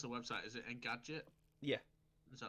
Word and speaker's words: Engadget: First of all, how do you pronounce the website? Is it Engadget?